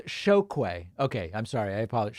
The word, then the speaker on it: Chokwe: It's pronounced Chokwe. Okay, I'm sorry. I apologize. Chokwe Pitchford.